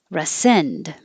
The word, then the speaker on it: rescind: sounding exactly the same rescind or resend i'm not going to really pronounce the d it's just going to hold it there but it's not the re is not stressed so it can change